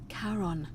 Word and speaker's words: Charon: Only your pronunciation is a little... It was C-H-A... Charon.